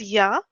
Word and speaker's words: ja: Like yes as ja, in German we say ja only. But the way of writing is JA. So ja is same, but writing J as, like pronouncing J as Y.